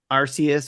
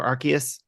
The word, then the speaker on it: Arceus: alive six Pokemon Legends Arceus or Arceus however you want to pronounce that number five Mario rabid